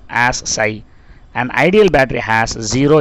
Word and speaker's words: psi: It is denoted by the symbol psi and to be pronounced as psi.